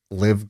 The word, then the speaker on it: LIV: of this thing called live golf i think it's called live i don't know how you pronounce it liv or live wait l-i-v yeah just live nah what's live golf